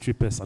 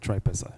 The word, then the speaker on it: Tripesa: team at tripesa um it's actually pronounced trippes are not tripeza just saying um we